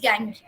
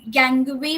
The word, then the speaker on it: gangue: This impurities are called as गैंग। Okay, गैंगू, गैंगवी भी बोलते हैं, गैंग्यू भी बोलते हैं, गैंगू भी बोलते हैं, गैंग भी बोलते हैं। सो it's okay as per your comfort in pronunciation.